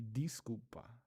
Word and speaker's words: desculpa: Oh well, so I'm just trying to because the person in here is saying it de sculpa instead of d. Desculpa, desculpa. So it should be disculpa, disculpa.